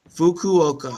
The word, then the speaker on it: Fukuoka: All right, If you wanna think crazy, just think "fuck you" without the That's so perfect.